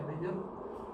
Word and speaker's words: Majors: Esta parte, cuando hablamos de las grandes de USA, que se llama Majors, se llaman Majors, hablando entre nosotros, se pronuncia Majors, pero se escribe Majors.